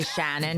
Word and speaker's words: Shannon: I'm saying Janet oh because I say Shannon because I'm from Shannon with like a short eye or whatever so they always think I'm saying Janet so go hi Janet